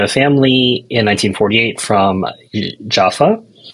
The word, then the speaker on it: Jaffa: family in 1948 from Jaffa yafa you can also pronounce it that way and this is